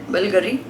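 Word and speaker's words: Bulgari: बुल्गारी. Okay, so it's pronounced as बुल्गारी.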